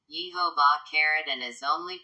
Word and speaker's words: Jehovah: thy God in vain the name with them sounds as if written yehovah cared and is only